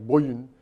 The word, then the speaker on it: Borgen: I'm watching Borgen, which I think is pronounced something like Boyen, from Denmark. Like an umlaut in there.